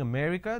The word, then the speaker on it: America: and all that now the correct pronunciation is if I have to break it down to syllables a May re cup so there are four syllables now in northern part of the country they pronounce this as um so they drop a syllable instead of saying America